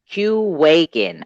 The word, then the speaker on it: Qwaken: waking q waking nfts q awaken okay there we go so two separate syllables basically q exactly awaken let's see the quantum